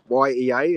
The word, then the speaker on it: Yea: YEA is but you pronounce it Yea.